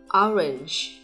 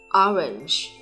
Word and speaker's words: orange: Trọng âm nhấn vào vị trí đầu tiên. Orange. Orange.